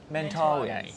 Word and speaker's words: Mentawais: the way from the Mentawais. Yeah. How do you pronounce it? Mentawais. Mentawais. Yeah. Mentawais. Yeah. That's the Australian way. We say Mentawais.